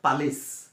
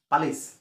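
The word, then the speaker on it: polish: ভুলকে কম উচ্চারণ করু সেটা হইছে পালিশ পালিশ সুপালিশ আমি জুতা পলিশ করুক পালিশ না হয় আসলে এটা পলিশ ড নম্বর আছে পি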